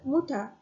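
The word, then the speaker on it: Mutter: In German मदर is pronounced as motor and Mutha and father is water.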